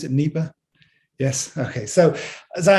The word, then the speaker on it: Nipah: the the nipa virus is that how you pronounce it neiba yes okay so as i understand it there